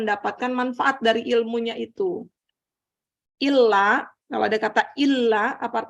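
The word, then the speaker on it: إلا: Illa itu kecuali. Kalau ila, ke. Maka bacanya jangan salah. Asyhadu alla ilaha illallah. Ada tasdidnya. Kalau bacanya asyhadu alla ilaha illallah, itu salah itu. Itu yang disebut lahan jali. Salah baca. Dan sampai hukumnya haram karena merubah makna.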